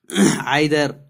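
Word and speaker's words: either: बट, फॉर, और, नॉर, आइदर और, नाइदर नॉर, इसको हम ईदर और नीदर नॉर भी सही प्रोनाउंसिएशन के जरिए से पढ़ सकते हैं।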